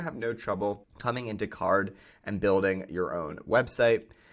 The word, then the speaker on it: Carrd: The first no-code tool that I'm going to recommend in this video is Card. That's spelled C-A-R-R-D.